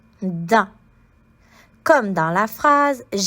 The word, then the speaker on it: dent: La dent. Tu peux remarquer ici que le T est une lettre muette, donc on ne l'entend pas dans le mot dent. L, A, la, D, A, dent.